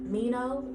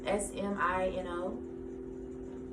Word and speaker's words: Smino: Masego, Kamau, Kamau, Green Tea Pang, Mino, isn't that how you pronounce his name? The S is silent. I know it's not Samino. I think it's Mino. Smino.